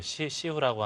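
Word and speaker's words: 西湖: 항저우 하면 가장 먼저 떠오르는 게 이제 서호, 중국 발음으로 시후라고 하는데, 엄청 큰 강이죠.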